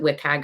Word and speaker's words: WCAG: enough enough time so wcag we pronounce it wickpack around here people pronounce it a variety of different ways but the standards and